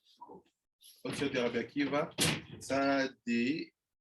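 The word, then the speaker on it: צדי: Okay, the Rabbi Akiva, Tzadi, it's called Tzadi, not Tzadik. Tzadi.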